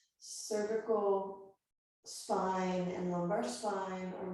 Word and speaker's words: cervical: So now vertical, cervical, rhymes with vertical, cervical spine and lumbar spine are moving in opposite directions for a deeper twist.